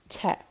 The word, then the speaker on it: te: So this would be how it's pronounced in Munster, te, hot.